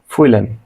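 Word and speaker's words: fühlen: করা ফুইলেন ফিল করা খেয়াল করুন এখানে হয় এর উচ্চারণটা হবে খুবই সামান্য ফুইলেন ফুইরেন লিড দেয়া বা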